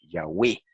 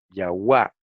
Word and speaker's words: Yahweh: Pues no, en la poesía samaritana siempre rimaban el nombre sagrado con palabras que terminaban en we. Entonces, esto señala hacia la pronunciación Yahweh y no Yahuwah o Jehová, como, ¿verdad?, pretenden algunas otras personas.